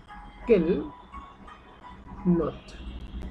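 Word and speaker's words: quelle note: আগে পর্যন্ত উচ্চারণ করব যেহেতু ডাবল এল একটা এল উচ্চারণ করে কে নট ইর আগে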